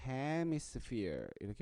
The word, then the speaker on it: hemisphere: 강세가 HE의 E의 강세가 있으니까 hemisphere 이렇게 발음합니다.